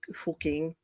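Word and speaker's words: Fucking: That's a And then of course there's an entire town in Germany that's called surprise pronounced fuking.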